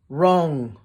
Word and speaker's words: wrong: packed up silent W answer wreath wreck sword wrong right can you think of any more examples